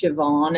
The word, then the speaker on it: Siobhan: It's a strange name, but it's pronounced Siobhan, and I call myself an insider.